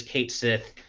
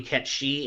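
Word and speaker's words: Cait Sith: in arms it's like I always do it as Kate Sith originally and then I learned later that it was actually KET she and so I'm like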